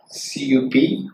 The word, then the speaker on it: cup: And for example, okay, the CUP, how to pronounce it? Cup. P-U-T, but. The CUP is cup. By logic, it should be a. CU is a. But, with the word cup.